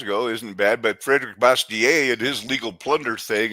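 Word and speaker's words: Bastiat: I've always pronounced it bastier because it's French, you know, but bastier is sounds.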